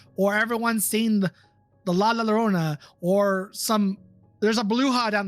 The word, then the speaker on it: Llorona: But no, I thought you said La Llorona, as in Lorona, like you were pronouncing the L's instead of with a Y.